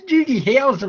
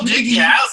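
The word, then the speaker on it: Doogie Howser: No, it's Doogy Houseser, mate. It's not Doogy Hower, it's Doogy.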